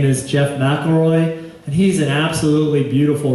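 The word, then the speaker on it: McElroy: ever get the chance it's mroy spelled like it sounds m c e l r o y and his books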